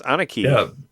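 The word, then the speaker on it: Aniki: pretty cool it's uh it's anaki is how you pronounce it I know I knew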